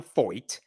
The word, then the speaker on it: Feucht: there is this Christian nationalist named Sean Feucht. It rhymes with exploit.